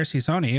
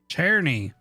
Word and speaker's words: Czerny: Herr Cicerni, what do you think of that? Czerny. I knew I was saying it wrong.